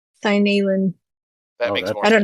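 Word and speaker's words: Seinalan: I just know that at times, like Sanderson has said that like all the vowels get pronounced. So when you have like two in a row, that's Sinalin.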